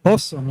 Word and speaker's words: Osome: Am I pronouncing it right? Osome? Awesome. Or do you Yes. pronounce it like awesome, like awesome? No, it's like how you should feel when you use our services. You should feel awesome.